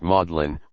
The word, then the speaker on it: Magdalene: and the united states in england the word is pronounced maudlin whence maudlin adjective unpleasantly sentimental with their maudlin for magdalene and their bedlam for bethlehem the english may justly boast